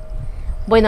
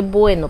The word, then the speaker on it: Buono: Yo lo llamo Filodendro José Bueno, pero parece que se pronuncia Buono, algo así.